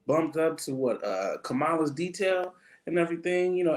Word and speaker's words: Kamala: this brother was bumped up to what uh kamala's detail and everything you know escorting her out first off can we let me let me clear this up right now it's kamala okay um excuse me no no it's not